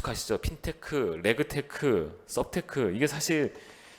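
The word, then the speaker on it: SupTech: 아주 그 이수 카시스 업힌 테크 레그 테크 썹 테크 이게 사실 그 인지 비대면 과자 동화 라는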